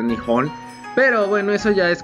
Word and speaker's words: Nihon: En realidad no se debería decir Japón, se debería decir Nihon.